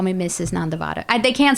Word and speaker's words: Nandivada: Did I pronounce it correctly? Nandivada. Nandivada. Nande. It's the lower D.